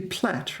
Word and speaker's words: plait: No, we say to plait, right? You don't pronounce the I.